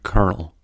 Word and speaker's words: kernel: The word kernel also has the R-colored vowel as it is pronounced kernel.